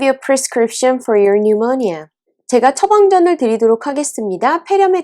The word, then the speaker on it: pneumonia: I'm going to give you a prescription for your pneumonia. 제가 처방전을 드리도록 하겠습니다. 폐렴에 대한. 자, 참고로 여기서 pneumonia의 P는 묵음입니다.